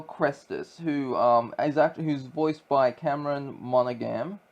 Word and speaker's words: Monaghan: And you play as a guy named Cal Kestis, who's voiced by Cameron Monaghan. Monaghan, I think that's how you pronounce it.